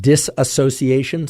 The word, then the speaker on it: dissociation: Often we hear about dissociation, sometimes called disassociation. Some people pronounce it dissociation. Guess what? Despite being corrected many times for each of those pronunciations, I checked with my colleagues who are experts in dissociation or disassociation, and guess what? They're the same thing.